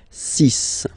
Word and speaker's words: six: And be careful here, because even if it's ending with this X, well, you'll have to pronounce it like S, S, okay? So you get the six pronunciation, six, six, okay? So it's not six, it's six, all right?